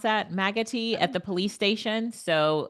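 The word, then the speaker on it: Maggotty: So, um Jill says just Jill's saying clean water station is set up in uh Loretta, how do you pronounce that? Maggoti at the police station.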